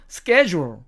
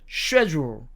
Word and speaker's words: schedule: 이게 미국식 발음입니다. schedule, schedule. 그러나 영국식 발음으로는 이것을 schedule, schedule 이렇게 읽습니다.